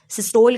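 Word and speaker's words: systole: है कि वो इफ़ेक्टिवली सिस्टोल कर सके, जिसे आप सिस्टोल में प्रोनाउंस कर रही है, वो कोई इसको सिस्टोली प्रोनाउंस करते हैं, आप जो भी जिस तरीके से आप प्रोनाउंस करना चाहें।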